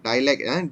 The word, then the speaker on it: dialect: Dialect, DIA. Okay. Although the ejaan dia, tapi kita pronounce die. Contoh, kita tak cakap diary. Kita cakap dialogue. Same thing. Kita cakap dialect. Okay, அந்த DIA kita pronounce die.